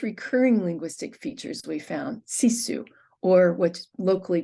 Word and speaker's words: sisu: The license plate holder and mug use most recurring linguistic features we found, sisu, or what's locally pronounced sisu, and you can see it roughly translated on the mug.